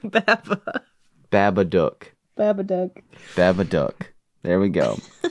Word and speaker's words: Babadook: Babadook. I'm going to have to do it every time. Look, Duck. Book. Duck. It rhymes with book.